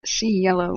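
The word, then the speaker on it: Rancho del Cielo: going back to okay Rancho Delo pronounced says SE yellow means wrench of the sky now that would make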